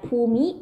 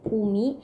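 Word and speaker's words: ภูมิ: Is right Pumi, okay, Pumi, but we don't pronounce Pumi, we read Pum, like the word Suvarnabhumi.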